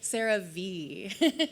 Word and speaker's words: CeraVe: How you pronounce a brand name, which is CeraVe.